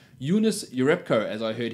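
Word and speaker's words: Giannis: I've got to correct that it is not Yanis it is unis unis Europe Co as I heard him pronounce the other day so shout out to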